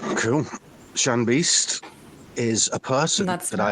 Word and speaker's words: Beaste: Is it pronounced Shan Beast? I've only ever read your name, Shan Beast. Yeah.